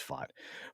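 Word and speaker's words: Vought: Anyway, I always say his name Voight. It's not Voight, it's Fott.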